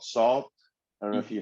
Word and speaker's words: SAULT: Um, Another probably one of my favorite groups right now is this group called Salt. I don't know if you heard of them. They're out of it's spelled Salt. It's SAULT. They're out of London.